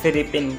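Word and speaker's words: フィリピン: और इसे हम बोलते हैं फिलीपीन जापानीज़ भाषा में, FILIPIN फिलीपीन।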